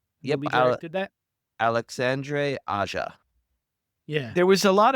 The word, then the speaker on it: Alexandre Aja: That's an Alexander Aja movie, or however you pronounce his last name, right? Yep, We directed that. Alexandre Aja.